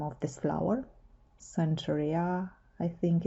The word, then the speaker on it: Centaurea: name of this flower centuria i think it's in english but i will use the pronunciation that is natural to me chentaura which is also if i'm not mistaken very close to latin probably the first thing